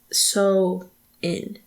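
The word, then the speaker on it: Samhain: a m h a i n but it's pronounced so in interesting so um at least that's what I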